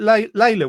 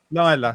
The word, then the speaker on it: Lila: Is it Layla, wasn't it? Lila. Sorry, I've pronounced it wrong.